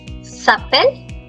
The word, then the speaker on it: s'appelle: The E and T is not pronounced. Il s'appelle. It stops at double L.